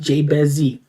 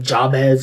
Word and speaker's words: Jabez Z: what you deserve it it's pronounced jbezzy so when they were trying to diss me on the video and make fun of me they they they said like jabez or jobez or something like that